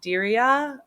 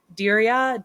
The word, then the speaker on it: Diriyah: So Jake is British, and he debuted in the series at the 2021 Diriyah. I don't know how to say this. Diriyah, D-I-R-I-Y.